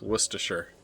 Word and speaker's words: Worcestershire: Can y'all agree on how it's said, please? It's Worcestershire. Worcestershire.